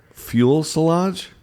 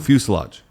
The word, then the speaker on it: fuselage: ice because they were fuel solange that's not what it's called i'm gonna do the how to pronounce okay but i have seven surprises what's it called fuselage i feel oh i